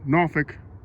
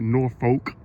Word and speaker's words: Norfolk: He even mentions my hometown of Norfolk, Virginia, even though he keeps mispronouncing it and calls it Norfolk.